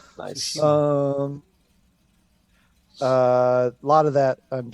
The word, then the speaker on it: Tsushima: Been playing a lot of Ghost of Tsushima, trying to say Tsushima right and put the emphasis on the right syllable. Nice. Tsushima.